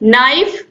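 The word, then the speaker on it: knife: तो देखिए, नाइफ मतलब क्या होता है, चाकू, के एन आई एफ ई होता है, लेकिन इसको हम पढ़ते क्या है, नाइफ।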